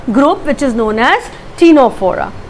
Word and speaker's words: Ctenophora: So where C is silent when we pronounce the word or the term, or let's say the name. So it's phylum Ctenophora.